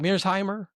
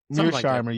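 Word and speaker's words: Mearsheimer: Mirshimer. Mirshimer.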